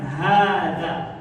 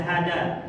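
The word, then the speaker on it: هذا: Untuk kata hadza secara tulisan itu nggak ada alif setelah ha, tapi pada pelafalannya dipanjangkan hadza, itu pertama huruf ha-nya. Kemudian untuk huruf setelah ha itu huruf da atau untuk huruf apa? Za. Jangan dibaca hada atau haja atau apalagi hajah.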